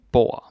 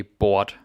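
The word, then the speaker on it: bord: boy table yeah and be aware that it's boa don't say bought it's a silent d boy boy yeah boom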